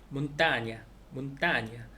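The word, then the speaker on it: montaña: 몬타냐. 이것도 아로 끝났으니까 몬타가 이제 저기 그 강세가 있겠고, 그다음에 호벤, 호벤.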